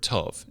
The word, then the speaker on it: tov: So you look at Genesis and the creation account, and when God creates things and then pronounces them good, it's the Hebrew word tov, T-O-V.